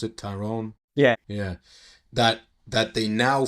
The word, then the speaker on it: Tyrone: Is that how you pronounce it? Tyrone?